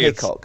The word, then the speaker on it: Hickok: Hickok. So phonetically, it's got a. Phonetically, Hickok.